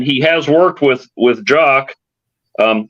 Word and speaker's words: Jock: has worked with with jock um I don't think it's Jacques because he's actually Scottish um you didn't like